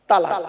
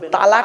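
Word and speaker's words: طلاق: একটা শব্দ বলে কি শব্দ বলেন তো বাবা তালাক বলে না বলুন বলুন আরে বউ যাবে না ভয় নেই আমি আছি এখানে চিন্তা নেই বউ এনে দেবো আবার কি বলেন তালাক তালাক তাইতো খবরদার ওটা বলবে না তালাক নয় শব্দটা শব্দটা তালাক নয় বাবা শব্দটা কি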